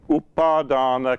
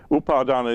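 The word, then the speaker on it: upādāna: dukkha suffering is defined defined as the five upadhana khandha upadhana kandha nobody none of you will know these words upardana is spelt u-p-a-d-a-n-a and the second half is a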